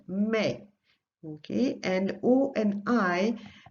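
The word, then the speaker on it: mais: means Burton notice how never pronounce the S at the end Mei okay and oh and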